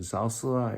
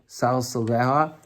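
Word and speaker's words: סַלְסְלֶהָ: Is the proper pronunciation Salsala? I wrote it down. No, Salsaleha.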